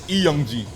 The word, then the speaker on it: 이영지: confused with the uh because it's technically you pronounce it right it's eeyongji it's not league because it's not the l